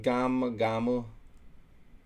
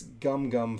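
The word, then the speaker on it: Gum-Gum: okay but um yeah him saying gamma gamma it's like dude no it's gum gum first of all you're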